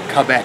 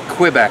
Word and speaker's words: Quebec: all the way from Quebec or Quebec or kbecque depends on how you like to pronounce things pretty tasty it's